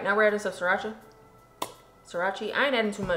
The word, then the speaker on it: Sriracha: onion powder garlic powder paprikas ratchet paprika Sriracha Sriracha that's what Jamila calls it um don't you call it uh shoes called srirachi till I told her how to say it